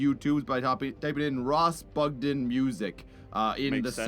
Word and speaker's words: Bugden: by typing in Ross Bugden Music. In Makes the sense. search function. That is Ross spelled R-O-S-S and Bugden spelled like a den full of bugs.